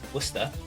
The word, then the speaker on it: Worcester: well that's good that's fine he obviously can't pronounce the location it's worcester and if you don't understand like all the